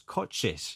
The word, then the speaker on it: Kocsis: I've been saying your name wrong, so it's Kocsis. Yes, yeah? It's Kocsis.